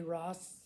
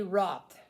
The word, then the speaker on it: Roth: Roth, I think is how you pronounce that. Roth. David Lee Ross. Ross, maybe. David Lee Ross. I'm not very sure. How do you pronounce that? Let's see. Let's Google David Lee Ross. Anyways, he got hammered. David Lee Roth.